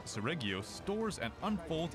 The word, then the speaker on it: Seregios: First off, we have Seregios, the flagship monster.